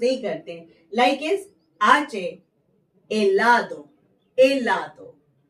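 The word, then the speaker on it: helado: Like is आचे, एलादो, एलादो। यहाँ पे इट इज नॉट हिलादो, एलादो।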